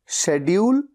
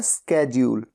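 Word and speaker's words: schedule: डी यू एल ई शेड्यूल या स्केड्यूल दोनों तरह से इसे प्रोनाउंस किया जाता है और इसका मतलब होता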